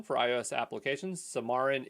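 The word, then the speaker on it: Xamarin: zamarin I always say zamarin wrong for iOS applications samarin is I'm assuming the x is pronounced like an S I don't know why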